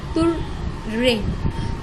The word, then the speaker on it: terrain: That means कि जो वहाँ का इलाका था टुर्रेन, TERRAIN, we will pronunciate it तुर्रेन.